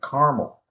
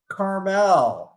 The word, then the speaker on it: Carmel: you know your way around here because you pronounce it correctly, Carmel. Oh, did I? Car- No, that was just by chance. Yeah, people. I'll take it. mistakenly I'll take it. call Carmel, and even Uh, there have been people who've